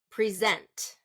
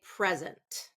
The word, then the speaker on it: present: another example of that present okay noun it's going to be first syllable stress verb second syllable stress so she gave me a birthday present present that's first syllable stress I will present my ideas to the team present so that's going to be a verb present present how about project okay